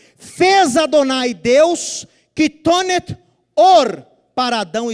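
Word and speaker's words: עור: Fez Adonai Deus quitonet or para Adão e sua mulher. Túnica, vestimenta de pele. Or é pele. Engraçado, né? Or é a mesma pronúncia de luz.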